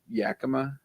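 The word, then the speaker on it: Yakima: 100% correct 20% off all is it Yak Yakama yeah Y is that how you say it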